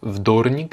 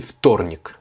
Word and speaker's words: вторник: Si le V au début du mot, donc vous voyez que ça commence par un V, mais il se prononce F, parce qu'en fait, il est en contact avec le T. Donc, c'est pas вторник, c'est вторник. Comme si c'était un F, en fait.